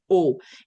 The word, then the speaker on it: eau: And in French, the word water is eau. And this is an interesting one because we spell it with random letters. So E-A-U. Um, make the sound o in French.